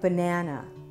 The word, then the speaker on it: banana: take a word like banana banana banana banana is a black cat word but listen to the first and third syllables banana banana right here in the middle is schah this resting position is